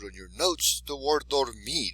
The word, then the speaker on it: dormir: The word dormir, it ends in an R. It's a consonant, so we know it's going to be the last syllable. So it's going to be dormir.